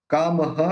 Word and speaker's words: कामः: Last, आनंदो नंदनो नंदो वंद्यो निंद्योभिनंदनः, ये विसर्ग का ह निकलेगा। और कामः कामदः काम्यः, इस विसर्ग का भी ह और इसका भी ह। कामधेनु रिंजयः, इस विसर्ग का भी ह प्रोनाउंस होगा।